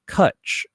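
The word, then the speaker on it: Cwtch: Cut is spelled C W T C H. Why is Cut spelled with a W there instead of a U? Because it's Gaelic.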